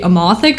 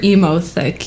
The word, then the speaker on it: Emothic: yes uh and that could be amothic or emo thick you know however you want to pronounce it i always think emo thick because that's just funnier yeah i knew what